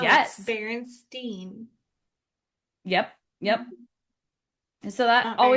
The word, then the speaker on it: Berenstain: It should be Stein the way it's spelled. And my mom was Yes. like, no, it's Yes. Berenstain.